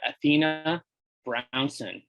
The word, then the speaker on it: Athena Brownson: We've got Athena Brownson. How did I do? You pronounced it perfectly.